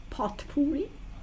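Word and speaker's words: potpourri: know what that is like pot Puri it's spelled p o t p o u r r i but really means it's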